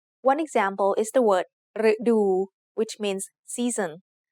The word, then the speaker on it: ฤดู: One example is the word ฤดู which means season. The short vowel รึ acts like a combination of รอเรือ and สระอึ for the tone rule as well as for the sound. So the word ฤดู has 2 syllables.